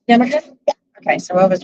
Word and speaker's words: yarmulke: Yarmulke?